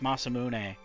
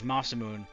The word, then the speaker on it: Masamune: why I mispronounced uh I mispronounced masamune as mimon specifically for kot trigger um Aon blade might